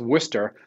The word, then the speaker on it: Worcester: And it's actually, it's pronounced Worcester. And there's a Worcester, Massachusetts. And you know, it's very similar. People from out of the state pronounce it that way.